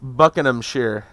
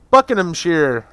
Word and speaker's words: Buckinghamshire: Pronounced Buckinghamshire. Buckinghamshire. Sheer, S-H-E-E-R.